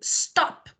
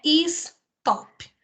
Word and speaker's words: stop: Quando eu digo stop, é de uma vez, é uma sílaba só, não é stop.